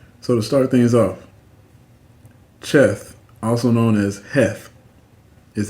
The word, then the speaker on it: Cheth: So to start things off, Cheth, also known as Heth, is the 8th letter of the Hebrew alphabet, representing the number 8. It is pronounced with a guttural sound similar to ch, ch.